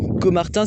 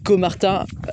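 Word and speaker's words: Caumartin: Et Comartin, je vous préviens, Comartin, ça s'écrit Cau c'est pas CO en fait. Donc c Au m a r. Pass au M TN donc com Martin avec un A et un U.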